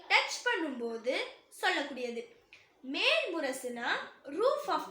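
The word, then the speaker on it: راء: இதை ப்ரொனவுன்ஸ் பண்ணும்போது தெளிவா உச்சரிக்கணும். சில பேர் எப்படி சொல்வாங்கன்னா, ராவை சொல்லும்போது கூடவே இன்னும் கொஞ்சம் எக்ஸ்ட்ராவா ராவை ஆட் பண்ணி சொல்வாங்க. எக்ஸாம்பிள் சொல்லணும்னா அர் ரஹ்மான், அர், அந்த மாதிரி வண்டி ஓட்டுற சவுண்ட் மாதிரி வரும். அந்த மாதிரி ஓடக்கூடாது. அர் ரஹ்மான் அந்த மாதிரி ஓதணும்.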